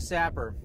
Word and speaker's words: SAPR: of our new products, the Sapper. It's spelled SAP PR, stock attachment precision rifle. All right, let's take a look at the Sapper.